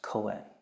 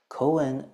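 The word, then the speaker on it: koan: Buddhist uh world as Coen Coen is again the Japanese pronunciation of the Chinese term Ganan Co k o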